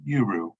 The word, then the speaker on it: UERU: We dropped that A and we just pronounced the letters UERU.